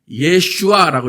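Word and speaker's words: ישוע: 이 히브리어가 어떻게 읽어지냐면 예슈아라고 읽어져요.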